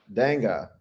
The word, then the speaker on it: Dengue: How do you pronounce this disease again, Fede? Dengue.